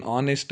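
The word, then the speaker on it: honest: को या को कंसोनेंट लेकिन ऑनेस्ट हैच साइलेंट हो तो ऑनेस्ट कर को बुलाती हूं उससे हमें यहां ए लगाए सो सॉरी एन लगाना चाहिए क्या लगाना हमें?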